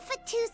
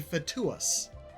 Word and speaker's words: fatuus: You have to pronounce both U's. It's a Latin thing. The correct pronunciation for a person who is in the Fatui is a fatuus.